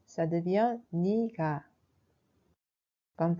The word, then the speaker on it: 네가: Mais on prononce plutôt comme 니가. Alors on écrit 내가, mais quand on le prononce, ça devient 니가.